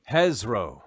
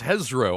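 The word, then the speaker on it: hezrou: out loud oh wait there's a pronunciation here on d d beyond hezro it's hezro i was correct kind of spiky froggy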